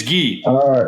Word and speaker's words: gi: even saying it right is it ghee no it's ghee G or no ghee there you go okay